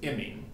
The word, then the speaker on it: imine: so we want to we have to exaggerate our pronunciations here to make sure we got this right this is an amine and this is an imine obviously these are not